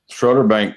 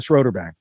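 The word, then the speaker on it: Schroder Bank: Yeah, I I pronounced it wrong the first time, but it's the it's the Schroederbank uh of New York.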